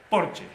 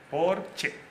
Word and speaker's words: Porsche: chip creador del porche porque se pronuncia porche no porque es alemán porsche punto y qué él